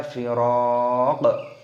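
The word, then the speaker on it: الفراق: Dan di sini qafnya berharokat dhammah ketika tanda berhenti ataupun waqaf, maka dimatikan qafnya, dibaca firaq.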